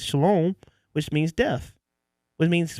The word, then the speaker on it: shalom: So Did that you can say be shalom? not shalom, shalom. Oh, okay. I was like, shalom is Shalom.